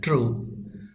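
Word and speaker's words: true: এটার উচ্চারণ কি হয় ট্রু তো এই ট্রু এটার ব্যবহার এখানে আমরা পাচ্ছি টি আর ইউ ট্রু তো এই ট্রু এর পাশে একটি ই এসেছে ই টা উচ্চারণে আসে না কিন্তু লেখার সময় অবশ্যই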